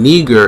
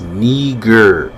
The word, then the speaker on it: Niger: When you go to the Strong's, the actual word there, rather than Niger, is pronounced Niger, which Strong's G3526.